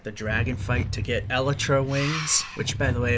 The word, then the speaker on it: Elytra: dragon fight to get Elytra wings, which, by the way, I found from Mojang. That's the proper pronunciation, not Elytra or whatever. Elytra. Again, it's from the source.